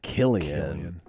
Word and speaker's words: Cillian: Their name Killian, hard C. And the hard C is so much cooler than the soft C. Killian.